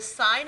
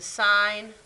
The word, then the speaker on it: sine: and what we're gonna add to that the sine of an angle this is not pronounced sin this is sine it's abbreviated for sine is opposite over hypotenuse